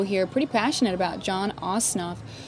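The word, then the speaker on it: Ossoff: passionate about John osof I keep wan to say OSN I'm sorry John ooff um or osof I guess I got to figure out how to pronounce that correctly but it's not OSN is what I keep saying tonight sorry about that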